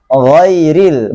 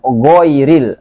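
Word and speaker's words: غَيْرِ: Maka dibacanya ghairil, bukan goiril. Sangat jauh. Ya. Tapi harus tebal. Jangan gairil. Itu tipis, nggak boleh.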